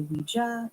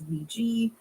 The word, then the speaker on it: Ouija: the Cambridge Dictionary um in the UK they say Ouija in America it's Ouiji so it's not a